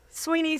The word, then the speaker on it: Swinney: My name is Summer Day, and I have with me in the studio the fabulous Swinney. Is it Sweeney or Swinney? Sweeney spelled like Swinney.